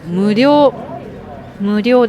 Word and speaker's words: 無料: この漢字の読み方は無料です。